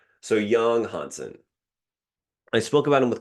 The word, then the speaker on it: Yang Hansen: Hansen Yang. I knew that that American twang was likely not the right way to pronounce his name. So, Yang Hansen, I spoke about him with Keandre and again with Powers.